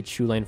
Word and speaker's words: Chulane: of that I do believe it should be pronounced Holland with a an inflection at the beginning that's not normal too speakers however for the sake of clarity and understanding I will say Chulainn from now on because it does seem that's